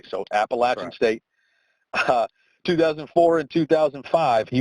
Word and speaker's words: Appalachian: pennsylvania and up here anytime we uh talk about that word it's always appellation but he told me i'd have a ride on my hands if i pronounce it that way so appalachian state 2004 and 2005